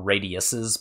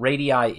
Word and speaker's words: radii: You will hear me say radii or radiuses back and forth. I don't mean to be snooty about it, but radii is technically the correct pronunciation, but I accept radius's language changes, and that's fine too, and everybody knows what you mean.